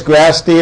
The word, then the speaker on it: Grasty: It is Grasty, and it's spelled like nasty. Grasty.